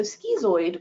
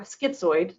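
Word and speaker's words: schizoid: So skezoid or skitsoid depending on how you say it. I say skezoid.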